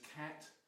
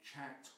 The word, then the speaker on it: khat: is its botanical name it's usually known as cat now you'll sometimes hear it called chat or cot those are regional variations of the pronunciation but i stick to cat because that's the pronunciation that caused the westerners who first discovered it first found it in use to give it the botanical name cather this plant then could